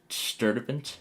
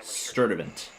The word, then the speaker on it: Sturdivant: no further restrict sturdivant Sturdivant. Okay, that's how that's how that town name is pronounced.